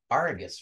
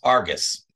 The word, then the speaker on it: Argus: not know well yeah our Goods two syllables not R I guess that's artichoke it's Argus oh Darth Vader so